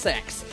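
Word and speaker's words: CeX: CE X, but it's apparently pronounced sex.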